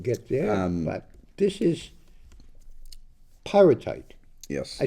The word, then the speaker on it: pyrite: and it didn't get there, but this is pyrite.